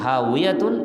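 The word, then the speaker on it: هاوية: স্থানই হবে জাহান্নাম হাবিয়াতুন আমরা যেটা বাংলায় হাবিয়া দোজক বলি হাবিয়া আসলে আরবিতে হাবিয়াতুন উচ্চারণ বাংলাটা হাবিয়া আসে হাবিয়াতুন হচ্ছে গভীর গর্ত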